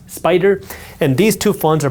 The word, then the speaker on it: SPDR: SPY is created by SPDR, pronounced Spider.